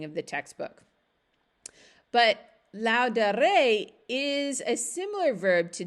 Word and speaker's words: dare: a first conjugation verb the exception is that the second principle part does not have a long a in the ending so d-a-r-e it doesn't have a macron but it's still part of the first conjugation verbs so here's the conjugation